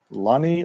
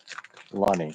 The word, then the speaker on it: Lunny: Lunny like funny. Gotcha. Lunny.